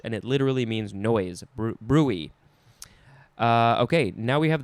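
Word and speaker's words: bruit: that is pronounced brute now with the second uh definition is brewee or actually it's brewey the emphasis is on the first syllable and this says any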